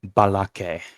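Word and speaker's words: balace: after a c and when there's an e after a c you pronounce it as an S but we don't do that with plurals um some people might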